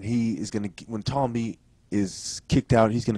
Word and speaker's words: Ptolemy: But it's really the Ptolemy, and the P is silent.